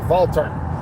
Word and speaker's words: Walther: Walthers or Valtes, no, because W's are V, pronounced as a V, so it'd be a Valter or something like that, Valta.